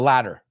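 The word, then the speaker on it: latter: The first option or the ladder? Pues ladder, L-A-T-T-E-R, suena como ladder, L-A-D-D-E-R, in inglés americano, no británico.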